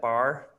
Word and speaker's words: Barre: in her hands do you say is that bar you pronounced okay thank you Barre classes keep her mind clear and her body